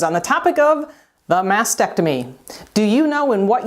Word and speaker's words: mastectomy: to cut now please note that the correct pronunciation is mastectomy not mastectomy the radical mastectomy which removes all of the